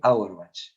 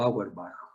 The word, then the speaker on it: Auerbach: Mioentérico, porque está en la parte del músculo, de Auerbach, o Auerbach, porque es alemán el apellido ese. Así que esa sería la pronunciación correcta.